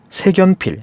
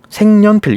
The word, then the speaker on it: 색연필: 세필 세필 이렇게 되겠는데 이게 틀렸다는 겁니다 지금 이거 어떻게 하냐 생년필이라고 읽어요 이렇게 읽습니다 색연필 이렇게 잃지 않아요 기억이 올라가 가지고 돼 가지고 이런 식으로 일어나지 않는다는 얘기죠음 생년필 이렇게 읽습니다 그 왜 이런가 니은이